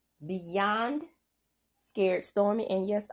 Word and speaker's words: Stormi: Episode 8, Beyond Scared Stormy. And yes, I pronounced the Y because I had a real English teacher in the 8th grade, and the Y is supposed to be pronounced according to her.